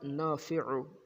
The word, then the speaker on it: نافع: نام کو پڑھتے ہیں۔ اس کا تلفظ بھی ذہن میں رکھیے گا، خاص طور پہ عین کو گلے سے نکالیے گا۔ یا نافع، یا نافع، یا نافع،